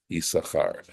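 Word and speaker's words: Issachar: servant to my husband and he was called isar so of course if you look at this it looks like but it's never pronounced that way and the fact that there's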